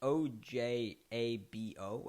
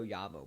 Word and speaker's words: Ojabo: michigan edge rusher david i don't really know how to say this name it's o j a b o i think it's o o jabo maybe o oyavo but i think it's ojabo um getting him 45th